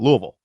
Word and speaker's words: Louisville: That's what that's how you say it. Louisville.